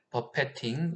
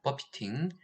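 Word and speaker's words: buffeting: 와류 진동, 플러터, 버패팅, 영어로는 버피팅입니다. 버피팅, 버패팅, 이게 건축하고 토목하고 사용하는 용어가 좀 다르고요.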